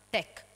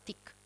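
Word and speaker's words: teak: ad alcuni carichi di tech non pronunciamo tecla lo pronunciano tic la compagnia aveva palesemente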